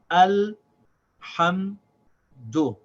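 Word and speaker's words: الحمد: Then we have ha with fatha and mim with sakin. And these two also get pronounced as one syllable. This is pronounced as ham. The ha has the vowel, ha, and then it connects with the sound of the meme. Say ham, and then the last syllable, the dal with dhamma, is do. So this is al ham do.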